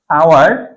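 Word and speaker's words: hour: হবে ঠিক একই রকমভাবে আমরা যদি দেখি আওয়ার এই আওয়ার কিন্তু এখানে এই সেম এইচ আছে বাট এইচ কিন্তু আমাদের ফ্যাক্টর না ফ্যাক্টর হচ্ছে আমাদের বানানটা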